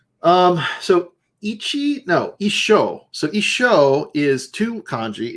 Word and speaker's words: 一緒: So that's I sho. 一緒 And, they say it like isho.